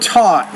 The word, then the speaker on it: taught: There, and this his father used of intensive reading while he taught school and he studied law in Now, when you say the word taught, the T, you need to pronounce that with a little more air.